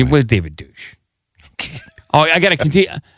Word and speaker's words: Deutsch: His last name is pronounced Deutsch, by the way. It was David Douche.